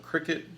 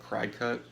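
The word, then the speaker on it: Cricut: But she does this like they call it cricket, but it looks like it's spelled cry cut.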